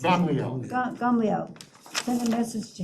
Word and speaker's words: Gamaliel: very bottom, okay, upon hearing that Rabbi Yehoshua had challenged his ruling, Rabban, how do you pronounce it? Gamaliel.